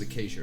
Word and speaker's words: Acacia: It's acacia, is it a plant or a tree? It's a tree. It's a tree. I knew it was a shrubbery of some sort. That's how you pronounce it, is acacia, right?